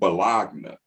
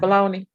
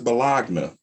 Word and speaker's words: bologna: bologna bologna is not pronounced bologna it's called balogna it's not pronounced but long but you know hey whatever